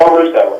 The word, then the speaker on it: LoRusso: Am I pronouncing your name right? Yes, LoRusso. LoRusso.